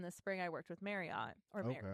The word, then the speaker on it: Marriott: Um, so like, you know, on the flip in the spring, I worked with Marriott or Marriott is how I learned it's pronounced.